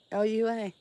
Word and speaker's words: Lua: L-U-A. Let's see if it's right. Yes, Lua. I love that name. It's so beautiful. Lua.